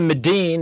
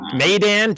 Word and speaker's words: Maidan: Look forward to Medine. Is that it? How you pronounce it? Medine? Maidan, just like the way it looks.